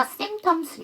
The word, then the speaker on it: symptoms: 그 다음에 여러분 심톰에서 P 사운드는 묵음은 아니에요. 그런데 MPT이기 때문에 잠 3개니까 두 번째 안에서 symptoms 이렇게 되는 거죠.